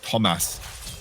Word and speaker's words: Thomas: I mean, that top lane, Thomas, I have been saying his name wrong all the time, apparently. It is Thomas for Granit.